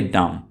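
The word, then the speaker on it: dumb: में word use करेंगे डम डम बी साइलेंट है यहां पे बी को नहीं पढ़िए तो यह वर्ड होगा डम गूंगा या कम अकल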